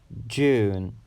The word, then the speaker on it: June: ear is June June June it's a one syllable word with the stress or emphasis on the you ooh ooh sound June June my birthday